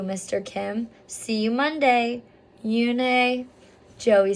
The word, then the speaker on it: Unhei: Yes, it's pronounced Yoonhei. And it means grace, Mr. Kim added. Yoonhei, said Joey slowly, and this time perfectly. It made Yoonhei smile.